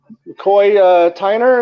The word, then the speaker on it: McCoy Tyner: McCoy Tyner, is that how you pronounce his name?